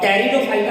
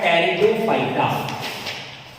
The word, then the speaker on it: Pteridophyta: है वो हमारा है टेरिडोफाइटा। टेरिडोफाइटा, टेरिडोफाइटा। जैसा कि हमने ब्रायोफाइटा को 2 शब्दों में तोड़ दिया था, वैसे इसको भी 2 शब्दों में तोड़ देते हैं। टेरिडोफाइटा में पी साइलेंट होता है और ये 2 शब्दों